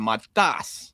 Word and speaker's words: Matas: What a performance out of Matas Vokietaitis. The broadcast was saying his name wrong all night.